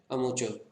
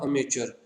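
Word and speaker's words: amateur: तो हम बोलते हैं अमोचर, ठीक है। अब यहाँ पर देखिए मैं क्या प्रोनाउंस किया था, अमेचर, लेकिन एक्चुअल प्रोनाउंसिएशन क्या है, अमोचर।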